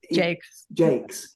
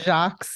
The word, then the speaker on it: Jacques: the children's author Brian Jakes? Or exactly. I would call it Jacques. Exactly. But he's a Northern Englishman, firmly going to pronounce his name English.